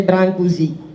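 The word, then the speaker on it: Brâncuși: désigné en français par son seul nom de famille prononcé Brancusi, qui est né en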